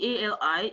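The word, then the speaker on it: Cali: Like, I heard Ali, like Ali, A-L-I, is like C-A-L-I in Somali. And then you still pronounce it Ali, like silent C.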